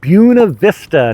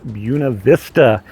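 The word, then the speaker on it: Buena Vista: last town we are in the town of buav Vista not buav Vista here it is pronounced buav Vista and in buav Vista it is so easy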